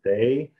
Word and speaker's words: Dai: is day but actually in Chinese if Rama pronounced that died it's a Dai so it is a confused for some people it is hard to pronounce make how to pronounce it is die or a day so I say if you want to call me just call me teacher die yeah mister die because